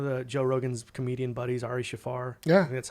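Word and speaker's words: Ari Shaffir: got one of the joe rogan's comedian buddies ari shafar yeah that's how you pronounce his name he said he was going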